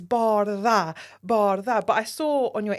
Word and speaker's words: Bardha: And I loved when I saw the promo of Love is Blind Season 2 and he said Bardha, I was like, I love that for her.